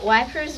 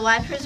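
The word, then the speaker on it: Wieprz: Gazetteer of the World lists the names of the Wipers River, blah blah blah blah blah, see Addendum 1.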